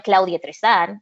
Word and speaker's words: Claudia Tristan: But I think if you're bilingual and you have the skills to be able to pronounce it correctly, why not normalize that? Yeah. Why are we normalizing this anglicized version of our communities or of our own names? Like, I always say I'm Claudia Tristan.